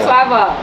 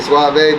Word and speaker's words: Suavo: Big Suavo. And you saying it right too. I like that because some people say Suave, but it's Suavo.